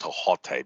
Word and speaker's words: Thoth: It's not pronounced Thoth; it's actually pronounced Tahote because there is no th sound in the ancient Egyptian language.